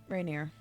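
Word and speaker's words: Renaer: perhaps with um someone i am acquainted with renar is that is said how you pronounce it rainier rainier yeah i'm acquainted with the rainier and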